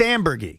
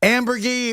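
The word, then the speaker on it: Amburgey: There's no debate. It's Ambergy. Ambergy.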